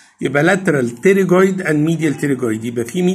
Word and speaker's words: pterygoid: انا هنا كسرت المندبل هلاقي ديب للمندبل عضلتين تانيين، واحده اسمها لاترال تريجويد والثانيه اسمها ميديال تريجويد. ذا بي از سايلنت لا تنطق. يبقى lateral pterygoid and medial pterygoid.